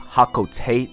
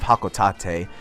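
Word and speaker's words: Hocotate: mentioned to me that olimar's home planet is actually pronounced hakko tate instead of hakotate so i apologize about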